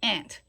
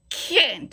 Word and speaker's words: kennt: Then it goes back to and make sure that no wer die Sehnsucht, particularly the Kent. You don't want it to sound like ant. Okay, Kent. It's Kent. Okay, it has that K.